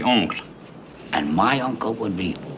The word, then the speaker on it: oncle: What's the French word for uncle? That would be oncle. And my uncle would be mon uncle. Exactly, mon oncle.